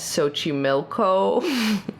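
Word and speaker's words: Xochimilco: exclusively lives in a lake uh known as sochi milko which i pronounced correct very good so honestly i it's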